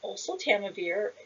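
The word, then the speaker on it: oseltamivir: this information with you so osil tamivir is how you pronounce it uh prevents and treats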